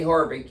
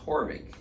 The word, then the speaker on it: Haavik: Heidi Horvik, you spell her last name Haavik, but it's pronounced Horvik.